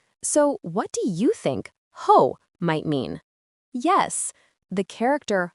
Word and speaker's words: 后: Its pronunciation is ho.